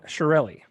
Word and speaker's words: Chiarelli: Chiarelli, That's not that's it.